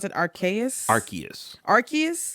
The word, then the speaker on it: Arceus: you pronounce it archaic arceus arceus everybody thought it was arceus me me included but apparently it's arceus arceus well either way